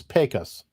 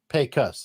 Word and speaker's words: Pecos: Oh, somebody said it's Pecos. Okay, that's what I meant. I was asking. I didn't know. It's like it's like a pay cut. Pecos.